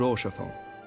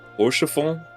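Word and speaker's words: Haurchefant: Which reminds me, Lord Orchafon, if you would be so kind. Horshafon. That's how you say it.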